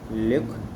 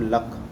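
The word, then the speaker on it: Luc: क्या बोलते हैं इसको, ल्यूक, या तो कुछ लोग बोलते हैं इसको लक मॉन्टेजिनस, कुछ बोलते हैं इसको ल्यूक, ठीक है।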